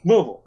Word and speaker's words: Louisville: meet uh yeah louisville louisville louisville louisville you know yeah i learned the hard way that's how you say it whoa whoa you gotta say like you got a bunch of balls in your mouth worcester yeah so i